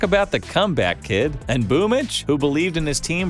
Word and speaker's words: Boombl4: If you don't know how to pronounce that, that is Boomich.